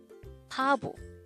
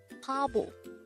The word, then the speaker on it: 바보: only here at gay hangout word number 163 pablo pablo this is pronounced as a two-suitable word the first syllable